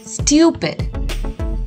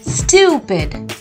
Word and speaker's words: stupid: it's not stupid it's stupid you have to stress on the u syllable stupid what do we call